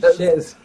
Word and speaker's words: chaise: Chaise.